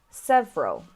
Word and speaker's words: several: need to pronounce so the black sounds the ones you should miss out so we have several several interesting interesting different